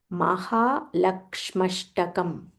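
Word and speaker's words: महालक्ष्म्यष्टकम्: Mahalakshmashtakam. Mahalakshma Ashtakam. So it's Mahalakshmi Ashtakam. Combine Mahalakshmashtakam.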